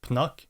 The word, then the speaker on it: Pnuk: uh and like for the reason why I pronounce this as pnu because it's probably supposed to be Punk so